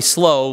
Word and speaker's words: slough: they drew near to a very miry slough that was, or slough, however you want to say it. Slough is like three different pronunciations.